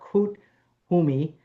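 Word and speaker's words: Koot Hoomi: So Master Katumi or Kut Humi is how you say it, or Kut Humi also known simply as KH, was one of the original ascended masters of Theosophy.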